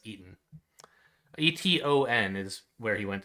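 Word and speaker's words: Eton: i i keep forgetting how you're supposed to pronounce that thing it looks like it should be edinburgh but it's eaten e-t-o-n is where he went to school and i thought it was pronounced but apparently it's eaten um okay and we're through the down so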